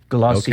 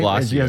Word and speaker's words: Glossier: new cosmetics line, Glossier, which is pronounced, Tom, Glossier. Okay, all right. I had to look that one up. I know you were doubting that, right? I was going to say Glossier, so I'm glad you